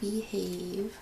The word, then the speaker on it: BEEHAVE: Oh, BEEHAVE. Spelled like B-E-E.